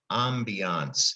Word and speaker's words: ambiance: That ending A-N-C-E, that kind of pretty much comes from the French language.